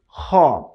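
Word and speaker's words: خ: যেখান থেকে স্টার্ট হয়েছে, এই শেষ ভাগ থেকে এখান থেকে 2টি হরফ উচ্চারিত হয়। সেই 2টি হচ্ছে গাইন খ।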